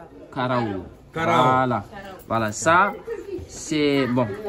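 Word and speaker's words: karaw: Alors ça, on appelle ça, je vais épeler les mots pour que vous puissiez prononcer. K-A-R-A-W. K-A-R-A-W. Karaou.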